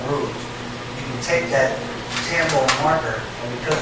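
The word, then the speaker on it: Tombow: You can take that Tambo marker, and because it's so fine, get in that little groove and make whatever color you want.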